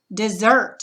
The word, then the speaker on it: dessert: It's going to be the second one. So the accent's going to go, the dot is going to go between the E and the S. And the accent syllable, the accent is going to go over the second syllable, zert, over the T.